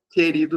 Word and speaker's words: querido: Querido não pronuncia u, não é q.